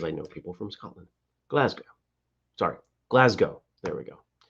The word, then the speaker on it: Glasgow: it wrong glass go now gao oh not glasgow glasgow right and it's not glass it's glass so it's it's a little bit shorter and i only know this because i know people from scotland glasgow sorry glasgow there we go i'm overthinking it